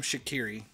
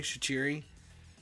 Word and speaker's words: Shaqiri: ostrich Erie it okay the announcers call him Shaqiri which is fine but he's actually is it Romanian and if you hear him pronounce his own name he pronounces it cheery there's is almost like a instead of a cup in there and the first time